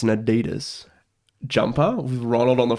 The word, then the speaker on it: adidas: pronounce the street right it's not adidas it's adidas i feel like a fair